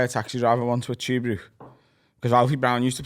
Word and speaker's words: Tuebrook: Is that in Tuebrook?